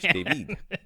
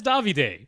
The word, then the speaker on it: Davide: So thank you very much, David. That's Davide.